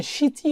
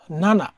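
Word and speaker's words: 七: যে ইমানজিসকা সকাল সতটা বাজে তাহলে আমরা জানি সিচি বলি সিচিদে ইমানজি সিচিজিস যদি সতটা বাজে যে সিচিজি সেখানে একটা উচ্চারণ আছে সীতি আবার নানা যেমন যদি হয় এরকম জুলাই তখন হচ্ছে নানা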